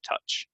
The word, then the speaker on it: touch: to mispronounce this OU it's the same as the word cousin it's just a uh uh so cousin touch touch so you know don't